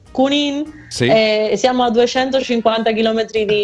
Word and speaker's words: Junín: Io sono la località, io sono a Buenos Aires, ma provincia a una località si chiama Junín, che là in Italia non si dice la Jota, si dice Junín.